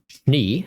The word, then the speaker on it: Schnee: Schnee is an ideally pronounced Schnee, okay. And the AAA can be skipped. Okay, so just Schnee.